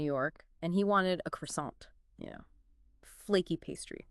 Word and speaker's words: croissant: My friend Daniel, he was in New York and he wanted a croissant. You know, flaky pastry, right? And the pronunciation often taught is well quite close to the French. Maybe like croissant.